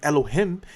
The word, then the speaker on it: Elohim: And then you have the Elohim which the Elohim is that's how it should be pronounced.